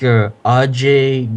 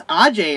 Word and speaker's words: Ajay: and and I don't think Ajay Gali is an American name. Oh, it's Ajay.